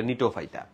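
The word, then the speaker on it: Gnetophyta: দেখো, কণিকা মানে হচ্ছে কনিফেরোফাইটা, নিয়ে মানে হচ্ছে নিটোফাইটা, GNE দিয়ে বানানটা, বাট এটা নিটোফাইটা।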